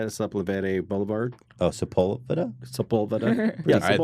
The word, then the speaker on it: Sepulveda: I was actually walking down Sepulveda, is how you say it, Sepulveda Boulevard.